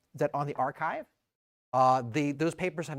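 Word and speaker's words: arXiv: They're all you can they're often on the archive, but pronounced archive.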